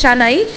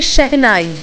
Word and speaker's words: শেহনাই: ওয়াও, এটা শানাই, হ্যাঁ এটা শানাই ইউজ করা হচ্ছে, আমরা বাংলায় বলি শানাই, আর অরিজিনাল উচ্চারণটা হচ্ছে শেহনাই।